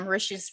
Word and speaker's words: Mauritius: I read an article, or was it in the movie, that Mauritius rhymes with delicious?